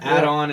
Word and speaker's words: ADON: ADON add-on. It's like add-on services.